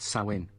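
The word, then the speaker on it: Samhain: of the veil will come upon us next sawin on this All Hallows Eve blessed Mary we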